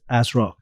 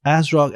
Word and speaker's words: ASRock: heard of, Gigabyte and MSI, as well as ASRock. I think in Canada and in US, ASRock is not as a big of a brand, but it's definitely big in Asia.